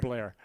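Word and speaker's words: Bellaire: you pronounced it right blair yeah it's spelled bel-air but everybody pronounces it blair we had relatives there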